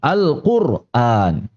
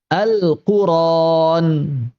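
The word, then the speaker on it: القرآن: Yang pertama adalah Al-Qur'an. Yang kedua adalah Al-Qur'an. Begitu Al-Qur'an dan Al-Qur'ran seperti itu. Dan ini dalam qiraat dua-duanya cara baca yang sah, ya. Dua-duanya adalah cara baca yang sah. Baik menggunakan ro sukun Al-Qur'an ataupun menggunakan ra fathah tanpa hamzah Al-Qur'an.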